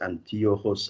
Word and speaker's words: Antiochus: the cello aikida and this is antiochus i pronounce it in german because this german is closer to the old greek than english i must say anthill